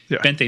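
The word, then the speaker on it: veinte: murf that's close B bente not vente for you Starbucks people bente all right 20 it's actually spelled with a V but it's pronounced with a with the B that's right Viva basion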